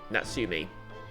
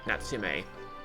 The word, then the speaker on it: Natsume: by our government nobody notoriously named natsume Sakai natsumi sorry natsume okay so kind that's to me I think that's how it's pronounced suum Sam what's an unusual name call